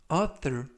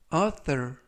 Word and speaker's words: author: 이번 표현은 author, author, author 이라고 발음하시면 되겠고요. 이때 th는 번데기 발음 그래서 author 이라고 발음하시면 좋겠습니다.